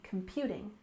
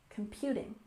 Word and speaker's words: computing: term is cloud computing we put a stress here on the second syllable in Computing Computing for example cloud computing